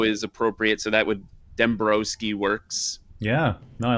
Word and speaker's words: Dembroski: i'm like it's dembrowski like bro well it's pronounced dembrowski yeah we lost the w on ellis island